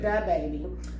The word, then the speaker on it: DaBaby: Using DaBaby as an example. I think that's how you say his name. I don't know if it's the or da. It's with D-A. Okay, DaBaby.